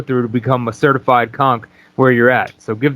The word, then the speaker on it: conch: on what it actually takes to become a conch am i saying it right conch yeah yeah what is what do you have